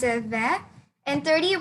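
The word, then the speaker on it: vingt: Yeah, you pronounce it then.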